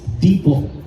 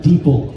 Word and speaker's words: Deepal: If we're going to say the brand name, it's pronounced Deepal. Like people, but Deepal.